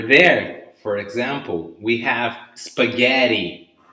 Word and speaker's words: spaghetti: Over there, for example, we have spaghetti, right? No spaghetti. Same situation as water and as butter.